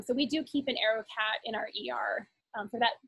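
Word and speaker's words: AeroKat: an aerocat device um arrow cat is spelled funny it's a e r o and then capital k k a t so arrow cat and it's just that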